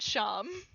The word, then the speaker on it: Seam: The plushie seems to be a older Frank and Alley Toon, who is the name tag says Seam. It's pronounced Sham.